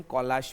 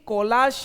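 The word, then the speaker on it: collage: तो सी ओ एल एल ए जी ई कोलाश है ना कि कॉलेज है। कॉलेज की spelling C ओ एल एल ई जी ई है। ध्यान रखिएगा। तो ये कॉलेज की स्पेलिंग नहीं है प्रभु। यह कोलाश है।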